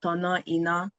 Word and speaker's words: Tonaina: terms of language, because in the Yoruba language, the way that Tonaina is spelled would be pronounced Tonoina, which means to turn on the inner light.